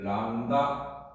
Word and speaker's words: 람다: 자, 지수 함수에서 다음에 해를 걸어도 얘는 뭐라고 얘기하면 이게 람다라고 읽어요. 람다. 아마 왜 h가 여기 들어가는지 여기 들어가는지 모르겠지만 람다라고 읽어요. 사람 인자라고 쓴 요거 람다라고 읽어요. 자, 이 식을 여기다 집어넣어.